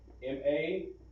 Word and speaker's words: Mashak: Okay, and in English you're going to spell that M-A-S-H-A-K.